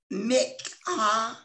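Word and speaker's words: minchah: And I want to say that the word offering here is from the Hebrew word mikhah. It's spelled M-I-N-C-H-A-H, and it means a gift, a present, a thanksgiving, or it could be an offering, a tribute.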